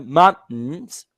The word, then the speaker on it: mountain: the second one last week I in the mountains for two hours last weekend I walk in